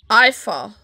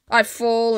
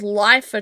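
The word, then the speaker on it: Iifa: How do you pronounce that? Ifa. Ifa tree. Yep. That's the two things I can't do. Pronounce things properly and I fall and get lost all the time.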